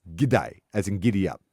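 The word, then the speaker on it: G'day: say hey mate or good day they're the two that great on me G day mate it's like it's for some reason cuz you it's not good day it's g day as in gidy up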